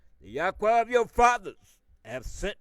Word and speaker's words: Yahweh: tribes of Israel, was four letters, which we pronounce Yahweh, YHWH.